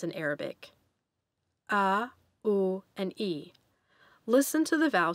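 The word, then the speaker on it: عربي: with a superscript c listen to the ah in the word for the language arabi practice pronouncing the sound ah with the word arabi after me ah arabi the letters gh will represent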